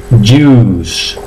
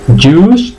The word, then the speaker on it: juice: Bien, es juice. Juice, zumo, ¿vale? Pero no digáis juice, la I no suena, juice.